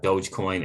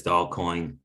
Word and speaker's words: Dogecoin: uh dogecoin is at 12 cents um people think it's doll coin uh it's amazing to see uh the quote unquote educated still can't seem to pronounce that name correctly chronos is at 39